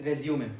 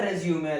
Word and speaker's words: resume: For our work, it's resume, the document. Submit your resume along with the application. Submit your resume along with the application. Second pronunciation, resume.